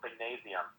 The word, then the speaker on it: Singnasium: I started a nonprofit music school called Singnasium. Singnasium. Can you spell that? Yep, Singnasium. Okay. Gymnasium, but Singnasium.